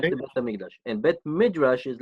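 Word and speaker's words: בית המקדש: What's the difference between the base hamikdash, base midrash? How do you say it? Bet HaMikdash, it's the temple, right?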